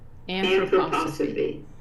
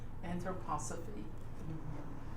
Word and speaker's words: Anthroposophy: Anthroposophy. Anthroposophy.